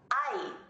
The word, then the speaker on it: hay: Hay, pronounced like I, but spelled H-A-Y.